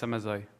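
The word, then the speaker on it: Samazeuilh: It's Samazeux.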